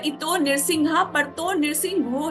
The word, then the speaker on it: नृसिंह: परतो नृसिंहा नहीं, इतो नृसिंहा परतो नृसिंहो। और नरसिंह जो है नरसिंह वो एक ही बारी आता है, उसके बाद जितनी बारी भी आता है वो नृसिंह आता है।